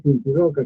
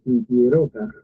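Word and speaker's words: Sinchi Roca: Aunque acá quiero hacer una aclaración eh en No se dice cincirroca, sino se dice sintieroca. No hay doble R en la pronunciación.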